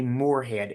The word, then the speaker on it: Moorhead: last name is is phonetically Morehead m o o r h e a d no e after the R so on my website